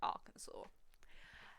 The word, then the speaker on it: Arkansas: he see I'm practically American I know it's pronounced Arkansas that you grow up in not a single